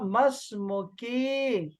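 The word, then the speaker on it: ما اسمك: होगी तो मैं कहूंगा मस्मुकी, तुम्हारा नाम क्या है लड़की। लेकिन इन दोनों को खत्म करो, आप सिंपली बोलो मस्मुक, तुम्हारा नाम क्या है। ये जो दो अलिफ हैं, ये दोनों अलिफ साइलेंट, खत्म।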